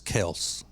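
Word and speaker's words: Kelce: is Jason Jason and Travis Kel is the original pronunciation of their names but now if you say it that way people think you're just being a douchebag I heard somebody used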